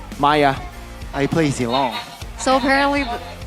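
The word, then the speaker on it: Miya: Oh, do you play Mia? Maya. I play Zeilong. So apparently we pronounce Mia Maya now.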